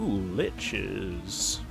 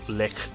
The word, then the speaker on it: Lich: talk over this o liches I think it's pronounced just Lich I don't think it's like lick uh hi I can't